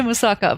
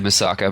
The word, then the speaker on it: moussaka: of our my sister I keep going to say moussaka but I've been cuz I've been saying it wrong so long English we all say moussaka but yeah in Greece in Turkey it sounds like it's actually moussaka yeah it seems to be